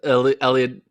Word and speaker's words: Eliud: His name's rhymes with Billiard Kipchoge, a.k.a. Eliud Kipchoge.